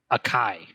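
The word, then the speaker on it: açaí: ever had one and if you want to say it correctly it's acai well dude you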